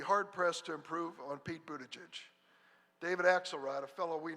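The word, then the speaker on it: Buttigieg: and ask him I'm going to try to pronounce it Pete one time and then from then on it's mayor Pete bootage got it they are Pete bootages The Washington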